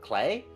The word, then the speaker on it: Klee: Like, for example, Klee, the proper pronunciation for the way it's spelled is a German word, clay, and that's the German word for clover.